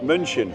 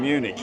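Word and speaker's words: München: or Bayern munion and it's Bayern munin not Bayern Munich you in your you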